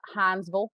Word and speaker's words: Hinesville: stewart georgia is around where this took place hinesville is sort of the small town that is adjacent to that army base uh hansville if you're from there that's how you pronounce it uh but anyway so so that's